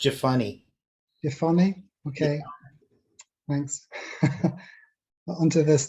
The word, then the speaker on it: Jephunneh: pronounced Jephunneh.